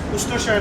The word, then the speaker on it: Worcestershire: Worcestershire. What is the full form of Worcestershire? Pronounced as Worcestershire sauce, but it's spelled as Worcestershire.